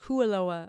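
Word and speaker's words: Kualoa: And so we got in at like 11:00 and we drove to Koalaoa Kuoa I should it's pronounced Kuoa Ranch and we did the UTV Raptor tour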